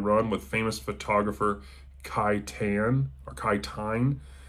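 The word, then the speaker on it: Tein: He co-wrote a science fiction book, Saturn Run, with famous photographer Kai Tine. It's spelled C-T-E-I-N, but that's how it's pronounced, apparently.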